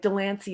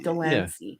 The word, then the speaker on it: Delany: as well right like Delany is not danany he even people the